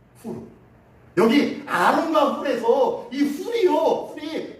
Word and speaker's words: Hur: 실질적인 발음은요. 후르입니다. 후르. 후르.